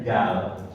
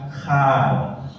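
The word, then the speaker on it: Gaal: tahu pelatih bola namanya Luis Van tulisannya gal itu tidak dibaca Luis Van Gal dia bacanya Luis Van KH Luis Van KH itu bahasa beland coba Inter re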